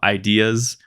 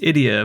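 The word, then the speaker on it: Ideya: So in the first game they had the concept of ideas, which were spelt I-D-E-Y-A, so I thought it was an idea, like ideas. Well, it turns out that's pronounced idia apparently, so my bad.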